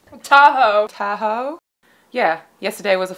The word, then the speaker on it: Tahoe: they are in South Lake Tahoe did I pronounce that right Tahoe Tahoe yeah yesterday was a flat stage so